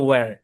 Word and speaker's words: where: থাকে, আর বিশেষ করে শব্দের শুরুতে আমরা দেখতে পাই যে এইচটা সাইলেন্ট থাকে। সুতরাং এইচটা যদি সাইলেন্ট থাকে তাহলে এই শব্দের উচ্চারণ হবে ওয়্যার। আচ্ছা, তো এই শব্দটাকে আমরা বাঙালিরা সাধারণত হয়ার বলি, হয়ার।